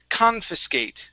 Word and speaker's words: confiscate: Next up is confiscate. So the stress is at the very beginning, and then we say an H sound at the end.